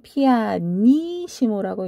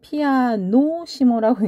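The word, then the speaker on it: pianissimo: 읽을 때는 피아니시모라고 읽어요. 저희 학생들이 읽으실 때 피아노시모라고 읽는 경우를 참 많이 보는데요. 피아노는 하나가 있을 때 피아노고요. 피가 두 개가 있을 때는 피아니시모로 정정해서 읽어주시면 좋겠네요.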